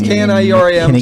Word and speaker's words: Knierim: It's Knierim. Just Knierim. Like I'm near him.